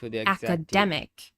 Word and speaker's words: academic: Let's compare the noun academy to the adjective academic. Academic. So what happened? Now the third syllable is stressed.